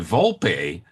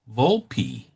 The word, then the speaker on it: Volpe: When she tells him who she really is, too, Fiona Vulp, she pronounces it Vulpi. Now, if that's Italian and it's spelled with an E at the end, shouldn't it be Vulp? It should be Vulp.